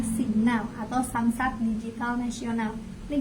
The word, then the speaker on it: SIGNAL: Kalau kita bacanya Sinyal ya, kalau ditulisnya Signal atau Samsat Digital Nasional, ini gratis ya.